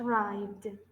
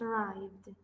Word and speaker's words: arrived: has just rhyme yes what you are not pronouncing is the ending of arrived yes yes that's true this card has just arrived this card has just arrived okay my brother hit